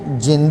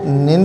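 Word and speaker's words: 人: अब देखिए खांजी में प्रॉब्लम क्या है कि इसकी बहुत सारी प्रोनाउंसिएशंस हैं, इसको कई तरीके से पढ़ते हैं, ठीक है। मिसाल के तौर पे इसको हीतो भी पढ़ते हैं, इसको जिन भी पढ़ते हैं, इसको निन भी पढ़ते हैं और भी काफ़ी कुछ पढ़ते हैं।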